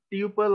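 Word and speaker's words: tuple: এখানে list, টাপল, টিইউপিএলই, টিউপল অনেকে উচ্চারণ করে থাকে, বাট নরমালি এটা টাপল বলা হয়ে থাকে, টাপল হবে।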